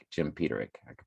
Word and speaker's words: Peterick: uh frankie sullivan explained the song's title it's petering jim peterick i can pronounce it now that i looked at it